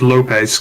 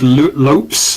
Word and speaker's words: Lopes: up on that one i thought it's pronounced lopez because you know ease it's the problem with being british we have so many silent e's i can never know if i'm supposed to pronounce them or not apparently his name is pronounced lopes like soaps not lopez oh okay yeah t-lopes